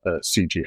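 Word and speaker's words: Sijie: And I saw some painting of a fantastic guy from Australia, C.G. Howe, I think his last name is pronounced. CG is S-I-J-I-E. He goes by the letters C and J.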